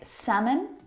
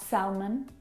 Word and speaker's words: salmon: lots of other English words that have a silent letter L in them words like salmon not Selman half nut how would talk walk all of